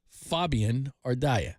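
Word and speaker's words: Fabian Ardaya: right we're gonna talk Dodgers uh Fabian ardia Fabian ardia nicely that is the correct way to say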